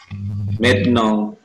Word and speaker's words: maintenant: Maintenant. Tulisannya main tenan ya, tapi bacanya maintenant.